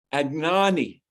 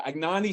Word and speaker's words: Anagni: Agnani.